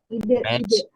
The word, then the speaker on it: Rechtsidee: Pelafalannya adalah Rechtsidee. Kanan, ya? Rechts adalah hukum. Ide tetaplah ide. Rechtsidee. Apakah boleh diucapkan seperti itu? Ya, benar. Rechtsidee.